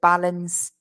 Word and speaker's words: balanced: The thing is, in the pronunciation, it's not easy to hear that D. But it's there. It is there in the written. So it's a balanced diet.